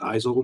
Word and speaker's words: Isel: Just Isel rhymes with Pisel.